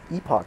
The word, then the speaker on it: epoch: Mash Escape whoa oh Epoch that's how you say it Epoch you didn't know that I didn't I thought okay I went I went through a door I thought was like it was like epic in all honesty epic yeah